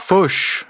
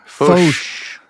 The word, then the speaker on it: Foch: How do you pronounce that? Foch? Foch. Foch.